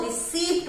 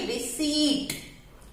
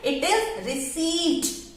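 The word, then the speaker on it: receipt: पी है इसमें तो रिसीप्ट बोलते हैं generally, but this इज नॉट रिसीप्ट। इसमें हमारा पी पर साइलेंट है, तो इसको हम बोलेंगे रिसीट।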